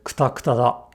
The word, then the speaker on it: くたくた: Kuta da. Kuta da. Kuta da. くたくただ、くたくただ、くたくただ。 Again, if we try and spell this word phonetically, it's much closer to kuta than kuta kuta kuta kuta.